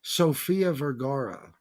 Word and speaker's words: Sofia Vergara: Lee Cole, the correct pronunciation would be Sofia Vergara.